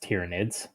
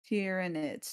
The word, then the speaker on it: Tyranids: or hinits it's uh typically it's pronounced tyranids tyranids tyranids you know like Tyran tyrants oh okay we were